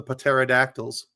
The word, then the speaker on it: pterodactyl: Cuz the P is silent.